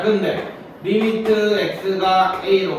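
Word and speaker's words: lim: L, I, M 해서 리미트라고 읽어.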